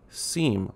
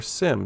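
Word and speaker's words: SIEM: and this is where a seam or Sim depending on who you talk to and how they pronounce it but a security incident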